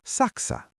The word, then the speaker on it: Saksa: Germany is saka. Think of the Saxons to help you remember.